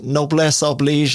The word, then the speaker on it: noblesse oblige: So number one is Noblesse Oblige. Is that the right pronunciation?